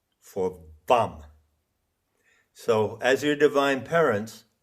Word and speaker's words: VAM: So in the illustration Woodroofe provides, you see this crocodile, you see the 2 lotuses, and you see the Sanskrit letter for Vam.